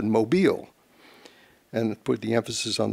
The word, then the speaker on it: Mobil: you will but also to make the word be pronounced correctly because a lot of people said mobile and put the emphasis